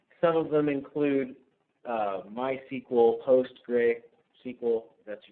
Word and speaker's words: PostgreSQL: Some of them include MySQL, PostgreSQL, that's how you pronounce it, CouchDB, which is actually a NoSQL database, quite a few others.